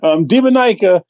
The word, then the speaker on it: Demoniaca: Oh, I don't know how the fuck you pronounce it. I'm just taking a stab at it. I'm taking your cue then. Demoniaca is a game where you play as a